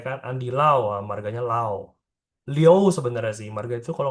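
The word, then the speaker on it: liù: Perhatiin ya dia pakai I sama U. Tengah-tengahnya ada O. Jadi bacanya bukan Liu tapi Leo ya.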